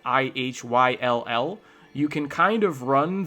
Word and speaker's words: Ihyll: But if you just gloss those together, you can still end up with ill or something quite like ill.